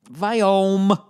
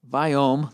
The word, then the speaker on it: Viome: Viome. The Vi is pronounced Vi, like Steve Vai. Viome, like biome.